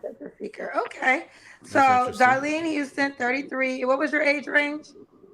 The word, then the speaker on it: Darlene: How you pronounce Darlene, right? Yeah, Darlene.